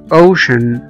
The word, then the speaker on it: ocean: زي مثلا كلمة ocean، ocean او محيط، هنا ocean او محيط o c e a n، السي جه بعد منها على طول a a، فنطقنا السي e a كأنهم حرف الشين، ocean، ocean او محيط.